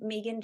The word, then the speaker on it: Megan: Hi, I'm Megan. My name is spelled M-E-G-A-N, but I pronounce it Megan, so that's why I put 2 E's on the Zoom.